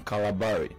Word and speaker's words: Calabari: I am Calabari. I'm Calabari. You see, there's confusion. Calabari. It's not calamari.